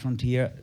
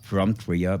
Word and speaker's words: von Trier: de alguna forma, Lars von Trier... Lars... Siempre pronuncio Lars FROM Trier por que en alemán "von" es "from (de)" pero en realidad es Von Trier.